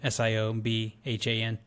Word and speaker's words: Siobhan: I don't know how you pronounce that name. Siobhan. Ooh. I think maybe they just dropped the keyboard when they went to go type her name in. It's Irish, you Irish jackass.